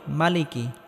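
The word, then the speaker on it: مَالِكِ: রাহিম আর রহমানির রাহিম মালিকি ইয়াউমিদ্দিন মালিকিউমিদ্দিন এক আলিফ টেনে পড়তে হবে অনেকে আমরা বলি মালিকি এক আলিফ টেনে পড়তে হবে মালিকিউমিদ্দিন মালিকিউমিদ্দিন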